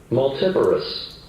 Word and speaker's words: multiparous: You spell multiparous, but that's not how it's pronounced. Multiparous.